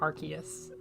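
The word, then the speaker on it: Arceus: I I I know I think both pronunciations are now like equally common ORS and archus you're not dumb it's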